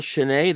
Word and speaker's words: Schnee: let's get started so Chen that's the proper pronunciation of your name correct sh yeah okay so